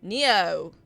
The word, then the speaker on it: Neo: You say it like you spell it, Neo. Okay. Neo! Like the singer.